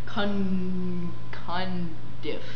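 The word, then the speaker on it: Cundiff: ever heard of yes his name again kind diff yes and that's exactly how you say it all right moving on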